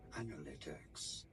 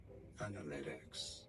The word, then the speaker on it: analytics: it is it as analytics stress on that LE syllable analytics in American English however it is usually said as analytics analytics in American English